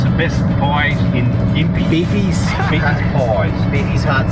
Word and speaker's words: Gympie: Apparently it's the best pies in Gympie. Beefies. Beefy's pies. Beefy's hard stomach. Because it's got gym and pie in the same word.